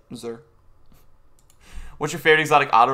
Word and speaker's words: Xur: I usually say Zer. Even though it's not a Z, but it's like Zer.